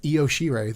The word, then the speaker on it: Io Shirai: He doesn't know how to pronounce the women's names. Yeah. It's Io Shirai, thank you.